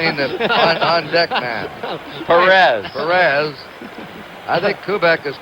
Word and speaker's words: Perez: the on Deck man Perez Perez I think kubc is correct he says Paris peris I guess that's the Latin American pronunciation Perez but Canal said